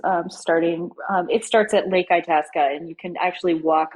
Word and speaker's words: Itasca: So, yeah, let's move on to the final movement, which is, oh, can you help me with the pronunciation? Yeah, Itasca. Itasca.